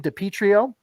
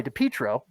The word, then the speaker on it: DiPietro: on let's go to dawson dipitrio sorry dipietro threw in an extra syllable there wrapped up a good